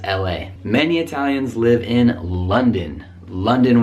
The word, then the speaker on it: London: Many Italians live in London with a nice schwa, double schwa, London.